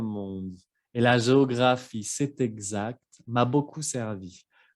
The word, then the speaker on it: exact: Y la palabra exact, exact. La X siempre se pronuncia como quiere, ¿no? Exact, como si fuera una G y una Z.